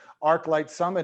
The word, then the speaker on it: ArchLIGHT Summit: ArchLIGHT Summit is how we pronounce it, I'm told.